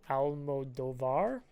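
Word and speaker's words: Almodóvar: It is the new film from Pedro Almodovar, I believe is how you pronounce the name, starring Ethan Hawke and Pedro Pascal.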